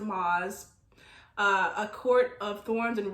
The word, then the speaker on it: Maas: Maas or Sarah J. Maas, I pronounce it Maas, A Court of Thorns and Roses, in her book A Court of Wings and Ruin.